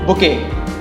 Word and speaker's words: bouquet: It's called bouquet.